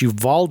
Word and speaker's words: Uvalde: We had the terrible tragedy, the shooting in, I believe it's Uvalde is how you say it, Texas, and in